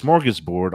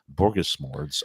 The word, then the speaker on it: smorgasbord: inside joke a bogus he mispronounced Smorgasbord on that deviled ham commercial and that's what made him famous so uh borgasmords he was a strange